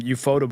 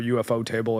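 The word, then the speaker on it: Ufotable: is finishing and um Euphotable or UFO Table I guess depending on how you want to pronounce it.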